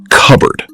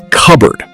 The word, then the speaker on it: cupboard: Now let's practice cupboard. Notice that native speakers don't pronounce every letter. Listen. cupboard You say it.